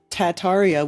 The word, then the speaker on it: Tataria: see shall we 2011 tartaria originally pronounced tataria without the first R is the name of